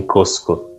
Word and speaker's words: Cusco: Mas eles pronunciam Cusco.